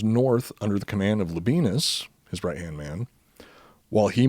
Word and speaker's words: Labienus: Well, if I was pronouncing it properly, like a if I was pronouncing it properly, it would sound even more ridiculous. Let's hear it. Because it's more like Labienus.